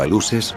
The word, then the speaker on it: aluxes: Se trata de los aluxes, pronunciado aluses, los duendes mayas.